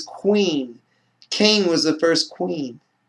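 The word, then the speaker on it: קין: kane was the first queen queen is how you say cain and hebrew queen queen so you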